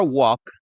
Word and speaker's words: walk: verbo, y for a walk sería el complemento. We could go for a walk. Recordemos que en el verbo caminar, to walk, no se dice la L, no decimos walk, ¿sí?